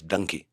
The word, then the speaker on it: Dunki: It is Donkey, but the way a part of the country pronounces donkey in India is Dunki. The Punjabis, they say Dunki.